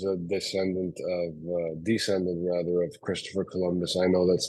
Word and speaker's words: Kolombos: Uh, it's not always pronounced Columbus, Colombos, different pronunciations. I take all of them. I usually say Columbus, um, and I usually get met with a similar reaction to you.